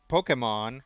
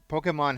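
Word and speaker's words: Pokémon: not pokemon but um in spanish that accent means that's where the stress for the word needs to go so um when pokemon first came out spanish speakers would read it as pokemon because you were supposed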